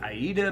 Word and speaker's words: Aida: 14 count Aida cloth yes people say Ada but I always say Aida because it reminds me of one of my favorite musicals so yeah to me is Aida class but it is Ada's pronounced Ada Aida however you want to sit but I'm